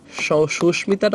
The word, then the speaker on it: সুস্মিতা: সংস্কৃত শব্দে ম ফলা উচ্চারণ থাকবে। মানে চলে যাবে না। হ্যাঁ। সংস্কৃত শব্দে যেমন সুস্মিতা।